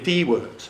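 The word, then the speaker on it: Diewert: Irwin Dewart, okay, that is how you pronounce his name.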